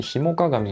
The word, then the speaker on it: 氷面鏡: ですね漢字で表面鏡って書いてヒモ鏡って読むらしいですねこのケースは背面